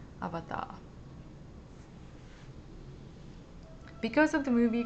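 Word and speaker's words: アバター: So avatar, they don't have a Japanese word, they just say avatar. That's the Japanese pronunciation, avatar.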